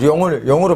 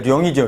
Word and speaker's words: 龍: 근데 두음 법칙상 제일 앞에 쓸 때는 용으로 발음하지만 원래 룡이죠. 룡. 원래 룡입니다.